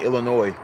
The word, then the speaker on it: Illinois: from United States and Illinois. The S is silent.